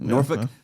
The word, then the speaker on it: Norfolk: We did Norfolk, Virginia is how they pronounce it. Norfick and that was on Friday night and Saturday night we were in Charleston.